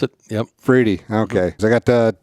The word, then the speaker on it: Friede: It's Friede. Friede is the way you pronounce it. Yep. Friede.